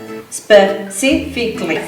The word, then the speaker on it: specifically: It's not specifically or S specifically because we don't have an E at the beginning, remember, my Spanish students. Specifically. That's the correct pronunciation. Specifically.